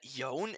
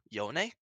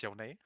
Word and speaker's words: Yone: Did you actually know that Yone is the wrong way of pronouncing Yone? It's Yone. Bang. It's Yone.